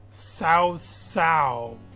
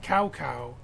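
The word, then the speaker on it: Cao Cao: And even after doing some further research, I found out not even the game is pronouncing it correctly. It's more like Sao Sao. All right. Sao Sao. Not KO, not Cow Cow, but Sao Sao.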